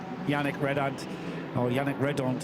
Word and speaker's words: Yannick Redon: Yannick Redon, I should say, to give it the correct pronunciation, is drawing up behind him in the slipstream.